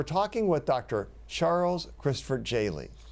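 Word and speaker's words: Jehle: Charles Christopher Jaley. Now, J-E-H-L-E. Jaley, I said it right that time.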